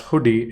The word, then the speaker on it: Hudi: as you know Apache hoodi uh pronounced as hoodi is a Next Generation